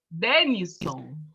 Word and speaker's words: Dênisson: Qual a pronúncia do teu nome? Denison. Denison. Isso, Denison.